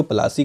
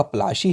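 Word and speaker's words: Palashi: My friends यहाँ पे बताते हैं कि जो प्लासी का नाम है जो यार ये आपको एक तरीके से प्रोनाउंसिएशन को इन लोगों ने चेंज कर दिया है। ये आपकी इंग्लिस्टिक थोड़ी प्रोनाउंसिएशन माय फ्रेंड्स है। इसका असली नाम आपका प्लाशी है।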